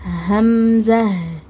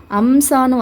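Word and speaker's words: همزة: மாறிரும் ஓகேவா அதனால இத நம்ம உச்சரிக்கும் போது எப்படி உச்சரிக்கணும்னா ஹம்ஸ ஹம்ஸ இதுல என்ன மிஸ்டேக் பண்ணுவாங்கன்னா ஹாக்கு பதிலா அலிபோட சவுண்ட கொடுப்பாங்க அண்ட் ஜாக்கு பதிலா சீனோட சவுண்ட கொடுத்து அம்சான்னு வாசிப்பாங்க ஏன்னா இலகுவா இருக்கும் உச்சரிக்கறதுக்குங்கறதுக்காக உச்சரிக்க இலகுவா இருக்குங்கிற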